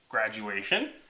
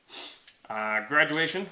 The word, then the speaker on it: graduation: A-shun. Ooh. We didn't talk about the shun and how that's spelled. You'll have to ask Mom or Dad. Graduation.